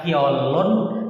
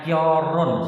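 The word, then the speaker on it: 결혼: Kok tidak dibaca kiolun? Kan ini bisa jadi huruf L. Seperti ini bisa R, bisa L. Kenapa dibaca kior bukan kiol? Itu adalah penutur asli. Kalau tulisan seperti ini bacanya kiorun.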